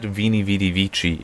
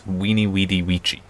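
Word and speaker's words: veni, vidi, vici: something easy but uh latin has no v sound also doesn't have a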